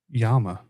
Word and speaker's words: llama: So, how do you say llama in Spanish? Yama. There's two L's.